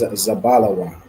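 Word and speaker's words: זבולון: out and okay the correct answer is zabala Wan zabala Wan is Zebulon in thew all right well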